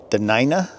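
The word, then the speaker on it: Dena'ina: tribes in this area the denina is how they pronounce it and how they lived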